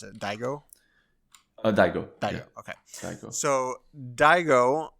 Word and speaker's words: Daigo: the main character's name I don't want to mispronounce it Daigo Daigo Dao okayo so Daigo um we first